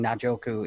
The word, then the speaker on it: Njoku: First of all, you guys saying Najoku is fantastic. That I don't have to correct anyone. So I think I learned from your guys' show how to say his name.